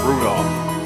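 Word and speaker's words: Rudolf: anyways the guy's name is pronounced Rudolph thank you you must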